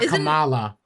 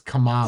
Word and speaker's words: Kamala: forget how to say Kamala you said it right not Camala we say Kamala that's not correct it's Kamala yeah yeah yeah yeah they